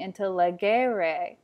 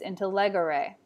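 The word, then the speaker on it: intellegere: instead of a re so intellegre has a quicker error on the end if it were second conjugation it would be intelleguere but it isn't it's into leg array in ago we see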